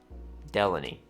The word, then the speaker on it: Delaney: John, now I'm going to pronounce his name correctly this time, Delaney.